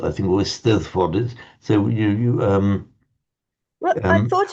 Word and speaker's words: Eisteddfod: Because the Welsh double D is pronounced exactly like our English the sound. The Eisteddfod, I think, or Eisteddfod is.